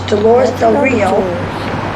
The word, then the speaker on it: Dolores Del Rio: Dolores Del Rio, Spanish pronunciation.